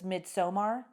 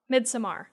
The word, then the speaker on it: Midsommar: So I think what I was saying was Midsommar when I said it once. Okay. And you're like, no, Felicia, which is no, it's not how you say it. So it's like Midsommar.